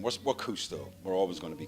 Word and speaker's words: CousteauX: You know, I mean, look, the X on the end is, as I said, it was for the legal reasons. It's pronounced the same. We're Cousteau.